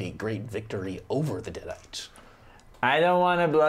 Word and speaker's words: Deadite: the hero of pronunciation destiny is the I've hero. been saying it wrong the whole time. It's deadite.